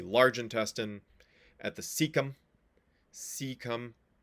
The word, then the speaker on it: cecum: intestine at the cecum cecum it's awkward because it has a c it has both a soft C the beginning c come